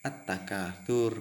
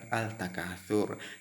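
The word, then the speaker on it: التَّكَاثُر: Kemudian alhaakumut takatsur, ada at-takatsur, dibaca at-takatsur bukan al-takatsur.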